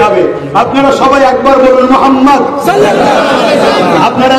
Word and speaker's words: মুহাম্মদ: আপনারা সবাই একবার বলুন মুহাম্মদ সাল্লাল্লাহু আলাইহি ওয়াসাল্লাম, আপনারা উচ্চারণ করুন মুহাম্মদ। খেয়াল করতে কোন নবীর নাম নিলে দুই ঠোঁটে ঠোঁট ঠেকছে, বলুন মুহাম্মদ।